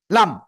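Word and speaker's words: لام: উপরে মাড়ির দাঁতের ঘোড়ার সাথে লাগাবো লাগিয়ে আমরা উচ্চারণ করব লাম লাম মাত্র চার আলিফ টার্ন হবে কয় আলিফ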